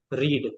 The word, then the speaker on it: read: रीड, correct. नहीं sorry, pronunciation, pronunciation different हो जाएगा, स्पेलिंग वही रहेगी।